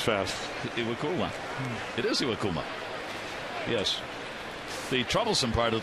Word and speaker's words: Iwakuma: It is Iwakuma.